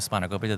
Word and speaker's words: spanakopita: And just say it for me because I know I don't say it right. Spanakopita? Yeah, see, Yeah. spanakopita. Spanakopita. Yeah.